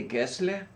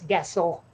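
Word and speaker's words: Gessle: yes so like okay if you saw someone's last name and it was spelled g-e-s-s-l-e how would you pronounce that would that be ghastly yes actually because it's swedish but most americans and in fact most english speakers i know think it's gessel but it's guess what yep yeah the uh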